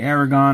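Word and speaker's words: Erdoğan: Now, Erdogan was there from Egypt, and I don't know if you say Aragon or Erdogan. I call it Erdogan. That's how it's spelled.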